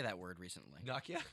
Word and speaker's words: Nokia: I learned how to say that word recently Nakia Nakia that's the that's the yeah it's the potato